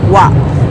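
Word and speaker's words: は: The wa in front of watashi is very different from the wa they use after watashi. So the wa they use after watashi is part of the ha.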